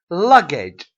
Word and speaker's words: luggage: one tell is stressed central is the first syllable central okay luggage luggage luck luck is what is stressed one